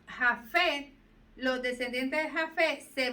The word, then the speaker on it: Jafet: Y de Jasef salen, de Jasef, yo no sé si lo estoy leyendo, Jasef, salieron las Jafet. Jafet. Así se pronuncia.